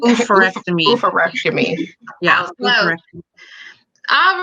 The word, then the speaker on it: oophorectomy: Can you pronounce it? Oophorectomy? Oophorectomy.